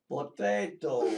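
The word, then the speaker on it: Pot8o: How do you pronounce the horse's name? P-O-T-O-O-O-O-O-O-O. And the answer is potato.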